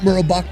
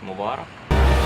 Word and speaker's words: Mubarak: On that date, the people made their voices heard by demanding President Mubarak to stay. That's not how you say his name, it's Mubarak.